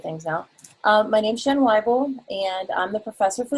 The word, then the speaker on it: Weibel: My name is Weibel, as in like Weibel, you know, people more. That's how it goes. Even though it's spelled Weibel, it's the whole German pronunciation kind of thing.